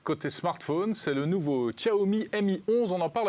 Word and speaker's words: Xiaomi: Xiaomi, exact. il faut s'appliquer pour bien prononcer le nom. Hein. Xiaomi.